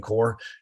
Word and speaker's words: corps: the core group and it is pronounced core Marine Corps Esprit de corps it